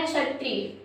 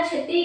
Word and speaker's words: क्षत्रिय: उच्चारण करते हैं क्षत्रिय, तो आप जब इस क्षत्रिय को बोलते हैं तो क्षत्रिय बोलते समय आपके अंदर क्या? का साउंड आता है।